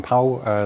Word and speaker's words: Pauw: Yes, the name is pronounced correctly. It's Pauw.